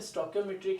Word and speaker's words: stoichiometry: तो अगर आप बात करते हो सर स्टोइकियोमेट्री की, तो स्टोइकियोमेट्री क्या है, तो देखिए हमने पहले प्रोनाउंस किया स्टोकियो की, फिर ओम, फिर ई, फिर ट्री।